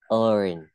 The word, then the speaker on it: earn: Mình sẽ không đọc là I learn to earn money, nó không cong lưỡi, mình thì cong lưỡi lên.